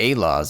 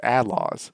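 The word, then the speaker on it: A-Laws: it's it's I mean we read it right phenetically and I don't know Western wise or something American English we think oh a law but a lot of the times the characters pronounced it Outlaws which i i al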